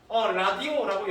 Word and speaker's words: 라디오: 실제로는 여러분 이 발음은 라디오에 더 가깝습니다. 라디오. 그죠? 그런데 우리 실제로 뭐라고 쓴다? 발음한다? 라디오라고 발음하죠? 이런 것들이 바로 전통성. 왜? 라디오라는 제품이 들어온 지가 100년 가까이 됐기 때문에 옛날부터 그렇게 불러오던 전통을 인정해주는 거예요.